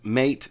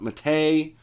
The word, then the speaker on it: MATE: but I really would recommend that you pronounce it as mate not mate it is based after the South American Plant by that name well that's absolutely true